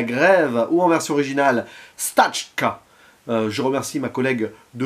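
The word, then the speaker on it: Стачка: en 1925 la grève ou en version originale stachka je remercie ma collègue de russe au lycée pour l'aide sur la prononciation puisqu'il s'agit d'une œuvre soviétique réalisé par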